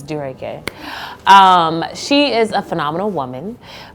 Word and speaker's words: Dureke: People say it wrong, it's Dureke.